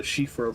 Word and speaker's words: Siofra: Well, um, Shiffra being an Irish word as I understand it and the SI in Gaelic pronunciations and names being an SH sound. Uh, as in Ashling or Roshene.